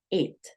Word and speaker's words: eat: te enseñé, en que la E y la A suena I. Entonces tú vas a decir eat.